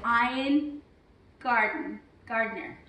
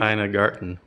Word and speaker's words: Ina Garten: Now, today the recipe is courtesy of Ina Gardner. Is that how you say it? Ina Garten. Thank you.